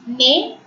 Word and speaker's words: nez: But when Z is accompanied with E, EZ, we have already learnt ER, EZ and ET is pronounced as A. NEZ is nay, NID is knee.